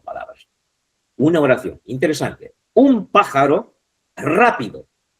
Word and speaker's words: pájaro: Dice así, pájaro. Pájaro, fijaros en cuál está. En la antepenúltima.